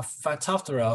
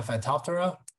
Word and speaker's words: Phytophthora: diseases of cucurbits uh one is called a phytophthora fruit rods which are showing in this photo